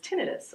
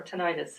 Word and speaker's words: tinnitus: actually is sure and either pronunciation is correct so I just happen to say tinnitus so tinnitus is caused